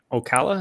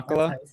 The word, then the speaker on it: Ocala: Elise went to the Arita signing in Ocala. Is that how you say it? Yeah, Ocala? Yeah, Ocala.